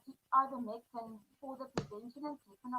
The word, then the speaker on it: ivermectin: Now, I can say it very well in Afrikaans, but in English, Ivermectin. I don't know how to really pronounce it.